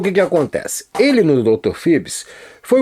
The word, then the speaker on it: Phoebus: Phoebus, como é dito no filme, que é a pronúncia correta, mas aqui no Brasil a gente não fala Hawaii, a gente fala Havaí.